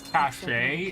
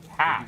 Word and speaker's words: cache: I I cuz I I know some people read it as cache and I'm like but it's a it's a it's a cash.